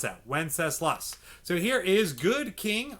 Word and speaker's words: Wenceslas: over and then we have good king wenceslas wenceslas that's how you pronounce that wenceslas so here is good king wenceslas we're almost